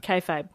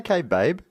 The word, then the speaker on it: kayfabe: Kayfabe. Kayfabe. Kayfabe. Did I say kaybabe?